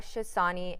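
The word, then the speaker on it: Chotsani: So it's spelled C H O T S A N I, but the T is silent. So the Shassani and then.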